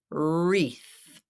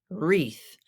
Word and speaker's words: wreath: silent and the E and the a together make the long e and the th is unvoiced wreath wreath do you hang a